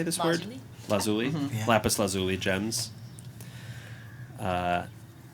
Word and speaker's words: lazuli: Lazuli.